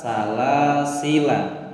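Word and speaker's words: سلاسلا: Selanjutnya pada surah Al-Insan ayat 4 di lafadz salasila. Di sini ada alif, di atasnya ada tanda sifir, dianggap tidak ada.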